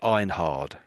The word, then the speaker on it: Einhard: It I know it ends in hard, but we probably say I think Americans would probably say Einhard. Einhard Americans. So I' I'd suggest you say it that way, but Europeans or British